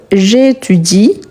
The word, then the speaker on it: j'étudie: Attention, on ne prononce jamais les E à la fin du verbe conjugué. Ici, j'habite, je mange, j'appelle. On ne prononce pas les E. On prononce la dernière consonne. Ici, il y a une voyelle. Donc, c'est le I qu'on va prononcer.